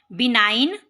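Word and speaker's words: benign: बिनाइन, gentle, kind, दयालु. इन बिनाइन G is silent.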